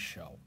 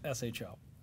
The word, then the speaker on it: SHO: It is a SHO. And it's spelled the same. Yeah, it's yeah, and he happens to be a purist, right? And so it's SHO, not show, but it means the same thing.